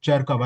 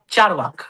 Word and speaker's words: Charvak: I think the best we ever had was Cherkav. Am I pronouncing him right? Cherkav, The right? Charvak, yeah, Charvak.